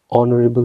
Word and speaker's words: honorable: beginning word is H and here this particular word H is silent and we have a vowel sound that is coming O, honorable man.